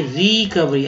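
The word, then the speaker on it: recovery: और वेरी, ठीक है, तो रिकवरी कैसे उच्चारण करेंगे, रिकवरी। अब देखिए आर ई री है, जबकि ठीक है आर ई री यहाँ पर जो ई है वो ई की तरह संबोधित किया गया, यानी कि ई का मात्रा ये वाला होता है, तो आप समझ री, और ओ का उच्चारण जो है यहाँ पर अ की तरह किया गया, तो ये हो गया रिकवरी यानी वसूली।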